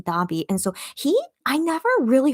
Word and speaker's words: Davii: His name is Tabi. So Tabi in Korean, but in English it's spelled Davii. So it's more like Tavi, I guess, in English. But I'll just go by his Korean pronunciation, Dabi.